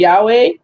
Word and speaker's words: Yahweh: that yo right but when i said yahweh yahweh i pronounce the word yahweh as i do because it's it's classed as a third hey verb because it ends in a hay right it would be